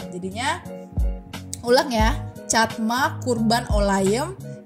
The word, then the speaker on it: olayım: aja kurban and then ada itu olayim itu kayak I yang enggak ada titik bacanya e jadinya olayem jadinya catma kurban olayem